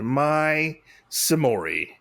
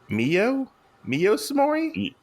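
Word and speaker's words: Miyo Saimori: a young girl named my samori I hope I pronounced it right my no it's not my samori it's Mio Mio samori yeah it's moo Mio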